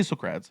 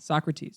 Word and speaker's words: Socrates: in two different ways how do you say srats is it srats Socrates Socrates yes Jesus Christ yes